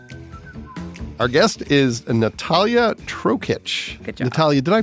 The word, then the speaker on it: Natalija: we hit record that you have a letter in your first name that isn't pronounced there's a J in there but it's Natalia and then you have